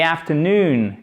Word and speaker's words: afternoon: Accent tonique ici. Afternoon, avec un A court et on termine par un OU, afternoon, pour prononcer les deux voyelles, les deux O qui se suivent.